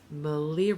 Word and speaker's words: Malia: And then what I decided to do is Malia Rhymes with Maria, who has a podcast that is now no longer with us.